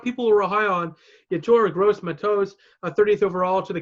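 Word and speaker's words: Gross-Matos: a lot of people rely on the torah' gross my toes a 30th overall to the Carolina Panthers I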